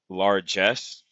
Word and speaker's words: largesse: budget deficit passed the $2 trillion mark in May amid a continuing flow of fiscal largesse. What in the world is this word? Search Google. Largesse, pronounced it right.